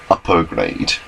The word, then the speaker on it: Upgrade: It says upgrade when you read it, but it's pronounced upper grade. It's a Japanese pronunciation.